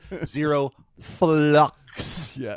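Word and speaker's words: ZeroFlucs: Australia named Zero and I'm going to spell it first FL l u CS fluctuations is the idea you should have in your head zero flux is the name of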